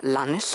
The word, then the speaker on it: Lannes: Schreibt sich eben Lannes und wird auch leider von vielen Leuten so ausgesprochen, ist aber nach einem Franzosen, nach einem Herrn Lann benannt. Oder von Lann oder de Lann oder irgendwie sowas. Und den spricht man halt gleich aus wie Renn und Wann und so weiter.